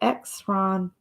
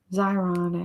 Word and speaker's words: Xyron: I have refill in my little x-run thing xyron actually is how you say it all right ow I